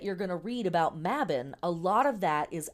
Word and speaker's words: Mabon: So, Mabon or Mabon, we in America here often pronounce this Mabon, but the word is correctly pronounced Mabon, is one of the Sabbats that is a modern invention-ish.